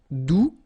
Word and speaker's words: doux: All right, doux, you don't pronounce the final X, douce, feminine form, doucement, adverb.